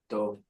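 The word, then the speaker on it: דב: Dove. Dove. Dove. So this is spelled A Yossi, the Torah we're reading in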